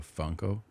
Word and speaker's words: Funko: That say It rhymes with uncle. Funko.